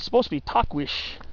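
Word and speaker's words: Tahquitz: yeah that's I believe how you're supposed to pronounce it most people say talk it's or tuckwits but it's supposed to be takwish takwish but yeah uh so that's not the point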